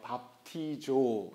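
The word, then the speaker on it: βαπτίζω: 밥티조. 여러분도 한번 읽어보시겠어요? 조금 어색하겠지만 밥티조. 네, 밥티조라고 읽습니다.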